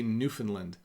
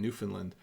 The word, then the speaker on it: Newfoundland: sense game account says how do you really pronounce Newfoundland so it's Newfoundland that's a question coming out of the chat but we say Newfoundland okay so that person